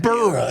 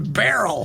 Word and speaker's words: Beryl: Yes, it's BERYL.